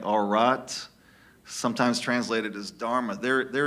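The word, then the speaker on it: Ṛta: There's even the Hindu have, it's hard to pronounce, it's spelled RTA. It's something like Arat, sometimes translated as Dharma.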